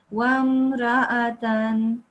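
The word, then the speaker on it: وَامْرَأَةً: So you don't prolong this ra. Okay. Can you read this again? وامرأة Yes, it was still slightly long. Just say it like this. Wamra'atan.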